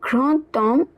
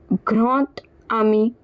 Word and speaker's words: grand homme: So, now this D will be pronounced as T. So, the pronunciation will look like grand homme instead of grand homme.